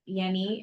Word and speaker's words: Yenni: addition which is that Yenni and I was pronouncing her name incorrectly originally it is pronounced with a Y sound y yes uh she